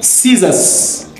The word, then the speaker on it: scissors: silent in muscle 11 scissors C is silent number 12 h X